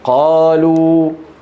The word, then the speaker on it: قالوا: ثانيا، حروف مكتوبة ولا تنطق، نحو الألف من قالوا، شفتوها؟ هذه كانوا يكتبونها ولا ينطقونها. انتبهتوا كيف؟ ما أحد ينطق الألف اللي بعد قالوا، اسمها ألف إيه؟